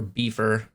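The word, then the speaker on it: Bifur: uh wubitae and uh I guess biffer or beefer uh I know it's pronounced biffer but B for sounds cooler on um a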